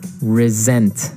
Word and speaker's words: resent: Well, Anthony said, I resent that. Resent. Resent. Okay, now this is spelled exactly like resent, like with an S, right? That's right. R-E-S-E-N-T. But you pronounce it like a Z.